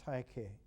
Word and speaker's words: Tyche: It's interesting because for fortune, in the Greek, is not pronounced fortune at all, but is pronounced Tyche.